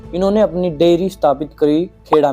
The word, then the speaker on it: खेड़ा: खेड़ा को इंग्लिश में कायरा भी कहा जाता है, तो आपको कई लोग नहीं इसको खेड़ा को कायरा भी कहते सुनाई देंगे, पर हम इसको खेड़ा ही प्रोनाउंस करेंगे।